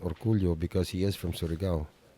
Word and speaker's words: Orcollo: The spelling of his name is really Orcollo. Yung pagbigas, Yeah. Orcollo. That's the real spelling of his name. Not you. Hindi you. Yeah, but it's just pronounced Orcullo because he is from Surigao.